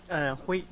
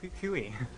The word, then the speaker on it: Hui: First name. Hui. Hui. Second. Call me Huey.